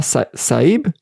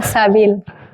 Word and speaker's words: Sabil: Salah Saib? Do I pronounce it correct? No. Salah Sabil. Sabil.